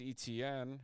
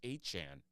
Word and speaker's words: Etienne: Travis Etienne or Etienne, excuse me. Travis Etienne. To 125. Still can't believe that's how it's actually pronounced. It's that Bayou. The Bayou accent.